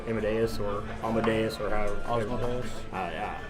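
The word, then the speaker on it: Asmodeus: Osmodeus. Amadeus, just like the song. That's how I pronounce it.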